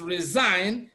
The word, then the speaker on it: resign: Then option B is resign. Even though we have S, it is pronounced Z.